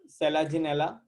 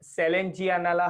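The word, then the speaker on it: Selaginella: इन सम pteridophytes like सेलाजिनेला. अच्छा इसको ना प्रोनाउंसिएशन सेलाजिनेला है, एक सेलेंजियानेला है.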